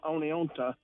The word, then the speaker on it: Oneonta: I'm not from Oneonta, but I used to work there, and I was told that it's an old Indian name pronounced Oneonta, and it means big rock. Yeah, it means big rock.